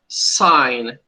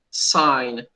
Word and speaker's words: sign: consegue fazer sim isso o g não é pronunciado não é pronunciado g s e desculpa s d n sign assinar Ok olha o som da palavra sign sign Ou seja a primeira